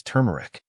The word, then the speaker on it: turmeric: r m e r i c the correct pronunciation of this word is turmeric turmeric means a bright yellow spice obtained from